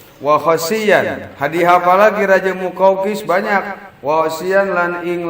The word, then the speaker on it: Muqawqis: Orang bacanya makukus aja. Kalau makukus bolu. Maoni. Ini muqawqis baca muqawqis.